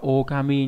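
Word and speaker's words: 狼: sói đúng không đấy, lang này trong từ đọc là okami nhá, đây okami này có nghĩa là chó sói.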